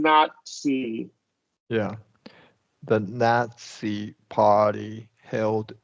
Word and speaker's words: Nazi: sportsmanship yeah correct so all of these here are going to have that TS sound including not see yeah the Nazi party